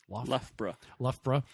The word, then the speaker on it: Loughborough: There was the Loughborough, which Steve was here to make sure I say it correctly.